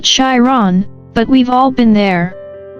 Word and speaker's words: Chiron: Sagittarius, this could be the most exciting thing you've stumbled into since you figured out how to pronounce Chiron, which for the record is Chiron, not Chiron, but we've all been there.